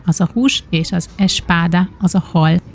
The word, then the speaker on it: espada: Ezért a kiejtésért, már biztos meg fognak lincselni, de így sokkal könnyebb lesz nektek megérteni a különbséget és megtanulni, mert ahogy a portugálok ejtik ki, úgy semmi különbség nincsen.